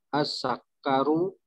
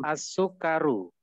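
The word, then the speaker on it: السكر: As-sakaru. Itu bacanya as-sukaru.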